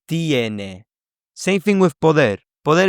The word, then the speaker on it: tiene: And so because there is stress on the E, it will split into IE. So it's not tene, but it's tiene.